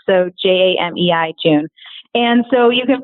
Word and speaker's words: Jamei: Well, first of all, my name is Jamei June, as you guys all know, but it's spelled a little bit funny. It's Jamei and then June, like the month. So Jamei, June.